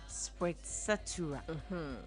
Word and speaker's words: sprezzatura: When you're pronouncing, the first Z sounds T, and then the second Z is S.